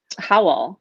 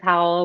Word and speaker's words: Howl: that's an acronym um howell you know that's about how h-o-w-l and rhymes with owl i like owls like